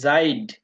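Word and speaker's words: seid: উচ্চারণ প্রায় সেইম অয় অয় আবার ই এ উচ্চারণ হলো দীর্ঘ ই এর মত বুঝতে পারছেন যেমন আমরা একটা ওয়ার্ড পড়ছি সেখানে জাইড জাইদ পড়ছিলাম না এস এ ই ডি জাইড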